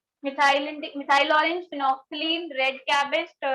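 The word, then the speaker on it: phenolphthalein: पहला है फिनोल्फ्थलीन, इसकी स्पेलिंग देख लेना ध्यान से, इसको बोलते हैं फिनोफ्थलीन, फिनोफ्थलीन, फिनोल्फ्थलीन, ठीक है, फिनोफ्थलीन।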